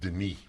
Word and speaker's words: Denis: two ends that's right One n is the French way and it's pronounced Denis there by the way